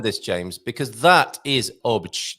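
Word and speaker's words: Óbidos: They'll understand you if you say ah bidos, and saying it that way is correct phonetically, but it's not how the Portuguese say it. So it's beach, and then you just kind of taper off at the end. You get to that last consonant, you don't need to worry with the oosh so much. So just go shh, and you're done.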